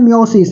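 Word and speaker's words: meiosis: में अगला आता है मयोसिस एमओ एम य आई एस आई एस मयोसिस spelling को नहीं देखना है और यह हो गया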